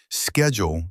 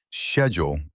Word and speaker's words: schedule: Both ways are correct. Schedule is American. Schedule is British.